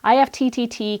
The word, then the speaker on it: IFTTT: IFTTT can also be pronounced IFT, and it's actually a website or an app where you will go to create what's called recipes or applets.